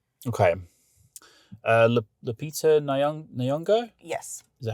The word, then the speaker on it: Lupita Nyong'o: Lupita Nyong'o?